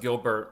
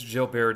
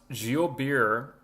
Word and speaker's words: Gilbert: Now you think it's pronounced Gilbert. It's not. It's like the French. It's Oh, it's not target. It's tar. Oh my gosh. I mean, I don't know what's going on, man. It's Jill Bear disease.